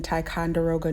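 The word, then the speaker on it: Ticonderoga: discovered on Lead Hill in 1815 processed in taond deroga New York now Dixon taond deroga is based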